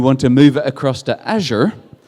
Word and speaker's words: Azure: to say azure and according to the guys in microsoft it's pronounced azure like a sneeze and not azure just in case you're